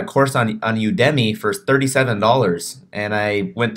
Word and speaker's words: Udemy: It's Udemy. That's how you spell it.